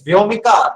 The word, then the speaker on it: Vyomika: How do you pronounce that? So I stay. Govind, how are you? Yeah, I'm doing good. It's Vyomika.